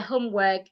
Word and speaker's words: homework: not homework homework work the word w o r k has a long vowel homework the H sound in that word is not silent homework so they do